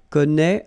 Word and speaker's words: connaît: Well, you pronounce these three forms the same way.